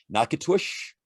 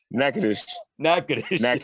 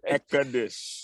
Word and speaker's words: Natchitoches: Nakatush, how am I pronouncing it? Nakatush? Natchitoches. Okay. Natchitoches.